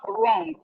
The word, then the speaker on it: wrong: It is not starting from R. It's starting with W. It's starting with W, but the W is silent. When you are writing it, you must write that W. You must write it. But when you are pronouncing it, you don't pronounce it.